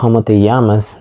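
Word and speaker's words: llamas: and if you notice with K yamas the Double L there is actually pronounced why and to answer this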